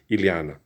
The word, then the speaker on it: Ileana: Ileana. You got to say it right. It's I-E. It's hard to say for a lot of US people that are born English speakers.